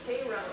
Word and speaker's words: Cairo: But the other thought I had was, I believe that city in Illinois is called Cairo, like the syrup.